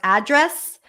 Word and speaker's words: address: on the second syllable if it's a noun what's your address usually it follows the rule of the first syllable address but people also put